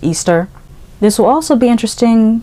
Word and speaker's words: Ishtar: Also, if you know the mythology behind Lilith/Ishtar, which is actually pronounced Easter.